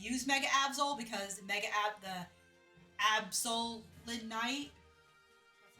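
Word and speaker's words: Absolite: Unfortunately, we can't use Mega Absol because the Absol Night, that's how you say it, is post-game.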